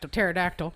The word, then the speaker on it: pterodactyl: search for hashtag paradox pterodactyl i consider that but then i remember remember it starts with a p yeah the p is silent why can't you hear